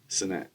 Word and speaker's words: Cenat: Cenat or Sene? How do you pronounce? Cenat. It's Kai Cenat.